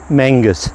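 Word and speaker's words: Menzies: His name was Archabel Menses, pronounced Mangus in Scotland.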